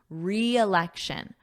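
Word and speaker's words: re-election: So he's campaigning again and notice that pronunciation. We have a strong E sound a long E re re election re election repeat after me re election.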